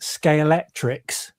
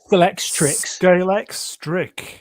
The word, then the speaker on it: Scalextric: Lots of people mispronounce this, right? To this day, my mum still pronounces it Scalextrix. I do as well. Or Scalextrix. Scalextric. Yeah, that's right. Yeah. Do you know what? And the C at the end.